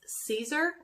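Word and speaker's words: Siser: that everybody loves is Caesar it's spelled si fer but it's pronounced Caesar like Caesar salad and everybody loves the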